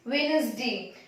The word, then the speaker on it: Wednesday: Wednesday is Wednesday. D is silent. यहाँ पे ये नहीं रीड करते Wednesday। ऐसे D का प्रोनाउंसिएशन नहीं होता है, इसको रीड करते हैं Wednesday।